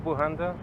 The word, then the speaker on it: Bujanda: Bujanda, first name easy, last name B as in boy, U-J-A-N-D-A.